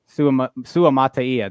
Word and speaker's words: Suamataia: Suamataia.